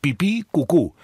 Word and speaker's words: pipicucu: El Facebook es pipicucu, así nomás, pipí con acento en la segunda I, cucú con acento en la segunda U, pipicucu.